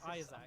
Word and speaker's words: Isaac: Isaac. Like, why is there so much emphasis Isaac. on the There's A? 2 A's! How do you not put emphasis on the A?